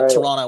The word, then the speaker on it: Toronto: to be from here I even say Toronto without pronouncing the T um this is a